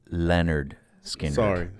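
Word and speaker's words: Lynyrd Skynyrd: It's pronounced Leonard Skinner.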